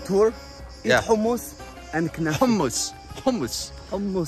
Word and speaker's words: hummus: Hummus. Say it right with the ha. Hummus. You see, even me, an Israeli, I'm struggling with saying hummus. You're Ashkenaz, that's why. Yemeni would say ha.